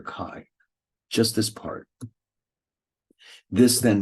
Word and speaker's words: chi: Greek letter Kai now in spite of the way it's spelled it's pronounced Kai like Ki let's say